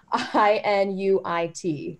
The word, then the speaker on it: Inuit: So are Métis recognized as Indigenous along with First Nations, or, and then I'm just going to spell it out because I don't want to butcher it, I-N-U-I-T.